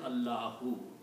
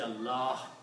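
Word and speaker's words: الله: This this alif is not pronounced anymore. So the word is Allah who. So the original word is Allah. When we stop we say Allah.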